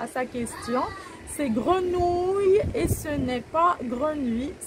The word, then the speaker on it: grenouilles: sont là l'erreur alors s'il vous plaît ces grenouilles en arrondissant la bouche et et ont trahi